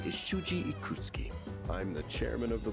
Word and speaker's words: Ikutsuki: a lot of times they just don't pronounce the U, like the U and Su. They just like it's just ski, right? Like Ikutsuki, right?